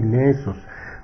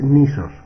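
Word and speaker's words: νῆσος: la voz griega nesos en el griego clásico se supone que se pronunciaba así nesos pero en el griego moderno es nisos Y esa esa palabra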